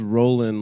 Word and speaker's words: Rollin: But it's spelled Roland like a like a wheel. R O L L I N. Keep rolling rolling rolling rolling.